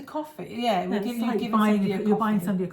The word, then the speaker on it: Ko-fi: I never know quite how to say it. It is like it's a coffee.